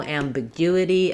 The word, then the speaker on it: ambiguity: So if I were to rewrite that, I would write it as ambiguity. There needs to be no ambiguity about how to pronounce the word ambiguity. So yeah, the challenges here come in the guity, and just knowing what those different vowel letters should say in that word.